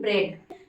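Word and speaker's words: bread: अब यहाँ पे देखिए कि ई ए डी यहाँ पर भी है, ई ए यहाँ पर भी आया है, लेकिन इसका प्रोनाउंसिएशन शॉर्ट ए हो गया है, मतलब छोटा ए हो गया है, तो इसका प्रोनाउंसिएशन हम कर रहे हैं ब्रेड।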